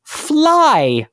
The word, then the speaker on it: Vlei: And just like Vlei, Emily, Vlei could be pronounced with an F. And so fly also made its way into place names, such as Burnt Fly Bog in New Jersey.